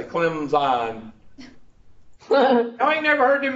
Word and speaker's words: Clemson: No, you said Clemson. If you're a dumb racist southerner, you put the P in it.